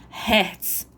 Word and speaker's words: Hz: A unidade de frequência é o Hz, que se pronuncia Hertz, ok?